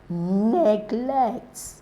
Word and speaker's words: neglect: noun form all right so neglect neglect neglects that's the verb is stressed on the second syllable but this is what